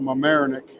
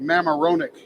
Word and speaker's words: Mamaroneck: over there in Westchester, some little town called Mamaroneck. When I first met her, I insulted the family because I pronounced it Mamaroneck, because, you know, to this hick from West Virginia, that's what it looked like, Mamaroneck.